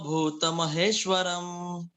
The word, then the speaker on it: भूतमहेश्वरम्: तो यहाँ पे तनु का जो उकार है वो ह्रस्व है, और भूत महेश्वरम में जो इसका जो उकार है वो दीर्घ है। तो ह्रस्व मात्रा के उच्चारण के लिए जितना हमें समय लगता है, उससे लगभग दुगना समय हमें दीर्घ मात्रा के उच्चारण में लगना चाहिए। तो तनुमाश्रितम ऐसा कह देंगे तो भूत महेश्वरम।